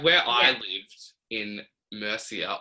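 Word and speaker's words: Murcia: where i lived in mercia or morphia as they pronounce it mm-hmm it's like a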